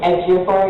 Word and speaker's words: Ejiofor: Ejiofor, how do you pronounce it? Ejiofor, yeah. Ejiofor, doesn't he study martial arts?